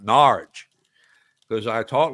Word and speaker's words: Norwich: If you want to hear my 20-minute rant about David Icke live in Norwich, you got to say it like that, Norwich, because I talk like that down there in Norwich.